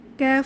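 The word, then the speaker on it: كاف: সেটা হচ্ছে জিহবার গোড়া তার থেকে একটু সামনে আগিয়ে ক্যাফ উচ্চারিত হয় ক্যাফ এটাকে মধ্যখান পেঁচানো ক্যাফ বলা হয় তাহলে আমরা বলতে পারি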